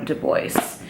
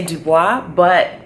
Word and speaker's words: Du Bois: And I used to say Dubois, which is of course a French last name, but I actually read more on him, and he actually didn't like the French pronunciation of his name.